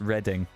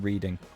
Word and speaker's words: Reading: two people saying reading it's reading that's the place that's how you pronounce it not reading I don't think they've